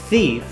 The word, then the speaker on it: thief: Repito, wolf, lobo, thief, pronunciemos la TH, thief, ladrón, knife, que es cuchillo.